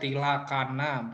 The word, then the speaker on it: tilakkhana: hilangkan until Akang tilakkhana eh dibacanya kalian boleh baca tilakkhana boleh atom pilek Hana bacanya Ya kita akan bahas